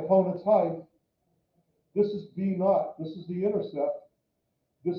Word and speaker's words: b naught: It just pronounce it b naught. Why? That's the b naught. H-T. B naught. Oh, okay. I thought you were saying naught, like N-O-T. No, b naught.